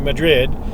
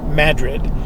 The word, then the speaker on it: Madrid: By the way, they don't pronounce Madrid here like the Spanish do, Madrid. They pronounce it with emphasis on the first syllable, so it comes out Madrid.